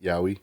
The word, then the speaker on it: Yaoi: How do you pronounce that? Is it Yaoi? Yowie.